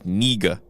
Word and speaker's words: Knigge: It's Nieg, right? Nope. What is it? It's Niga. No, it's not. It is. We're not saying that. I'm just letting you know. That's exactly how it's said.